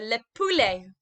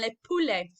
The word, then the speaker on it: le poulet: chicken my turn to le poulet your term lovely well done le poulet okay so that t sound on the end is silent okay we don't we